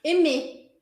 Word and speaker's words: aimer: Sempre que você encontrar as letras A, I juntas, você vai pronunciar isso. E ou é.